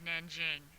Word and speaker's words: Nanjing: It's called the Treaty of Nanjing, is how you pronounce it, okay?